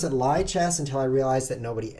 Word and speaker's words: lichess: So I asked the creator. I was like, creator, how do you pronounce it? And he typed back to me in his typing machine, li, as in live. I mean, lie as in live.